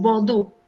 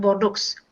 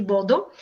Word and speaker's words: Bordeaux: living near to is bordeaux not borders it has an x at the end but you know with the french accent we say bordeaux and this is a